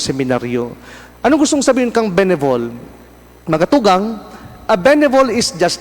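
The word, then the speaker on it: bénévole: benevol what is a benevol ano ngaung gustong sabihin ngayon father can benevol mga tugang ining tatara mo na ini the word is a French word it is pronounced benevol although ang spelling niya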